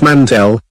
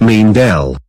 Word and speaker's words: Mantell: scriptwriter is an idiot it's Mantell not mean del hey stop calling me